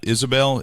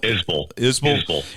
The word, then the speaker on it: Isbell: Jason Isbell, is that how you pronounce it? Yeah. Or Isabel? Isbell.